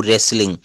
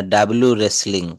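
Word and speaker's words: wrestling: এই নিয়ম অনুসারে হচ্ছে ডবলিউ এর পর এইচ অথবা আর যদি থাকে সেখানে এই ডবলিউটা উচ্চারণ করা হবে না এই আর থেকে শুরু করতে হবে এইচ থেকে শুরু করতে হবে যেমন রেসলিং মানে হচ্ছে কুস্তি আমরা কখনো কিন্তু বলি না ডব্লিউ রেসলিং আমরা কি বলি রেসলিং ডব্লিউ আর ই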